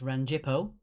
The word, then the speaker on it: Rangipo: That's Rangipo. That's how it's pronounced.